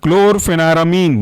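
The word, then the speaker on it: chlorpheniramine: इसके अंदर के एग्जांपल है क्लोरफेनारामीन, बहुत इंपॉर्टेंट है, काफी सारे सिरप में इसका कॉम्बिनेशन यूज होता है।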